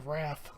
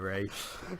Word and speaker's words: Wraith: I watched it when I was a kid, but I mispronounced it. I always call it the Wrath. The Wrath. The Wraith.